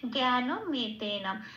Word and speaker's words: জ্ঞানমেতেন: এটা আসি পরের শব্দে জ্ঞানমেতেন। আচ্ছা, জ্ঞাটা যেমন আছে তেমন একটু ইয়া ঘাসা হয়, জ্ঞান নটা পূর্ণরূপে উচ্চারিত করতে হবে।